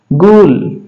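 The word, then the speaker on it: ghoul: उसी प्रकार अपने पास जो वर्ड है जी एच ओ यू एल जी एच ओ यू एल इसको पढ़ा जाता है गूल।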